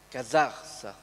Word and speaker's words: Casarsa: Il viaggio proprio sono andati, è finito dunque vicino a Trieste, sono andati a Casarsa, l'accento è Casarsa della Delizia, e là hanno incontrato un bibliotecario che ha regalato molta documentazione.